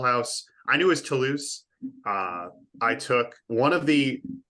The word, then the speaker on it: Toulouse: I'm curious to hear how they pronounced it, because how I would pronounce this is Toulouse. Yes, they called it Toll House, like the American, like the cookie, like the cookie.